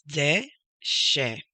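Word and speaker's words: דשא: The next one is de she. Deshe. When you notice the dot on the right side of that letter, which is a shin, you pronounce it as sh.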